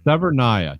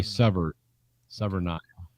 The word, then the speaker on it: Severnaya: Keep on saying Severnaya, but Severnia. Oh. Which one is it? Yeah, hold on. Let me dun, dun, dun, dun, dun. Yes, Severnaya. Just say Severnaya.